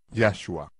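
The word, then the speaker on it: Yahshua: digo que a marey su nombre ya sua con énfasis en ya como es el caso de todos los nombres hebreo ya que la forma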